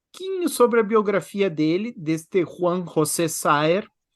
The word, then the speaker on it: Saer: O autor desta obra é Juan José Saer, ou como dizem os santafesinos, Saer.